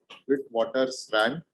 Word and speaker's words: Witwatersrand: the University of Witwatersrand, or let me just pronounce it properly, Witwatersrand, South Africa.